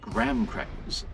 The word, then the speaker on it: graham cracker: Okay, graham crackers usually pronounced gram crackers are similar to to digestives.